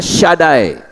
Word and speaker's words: Shaddai: Kalau Shin Dalet Yod itu bacanya Shaddai, Maha Kuasa.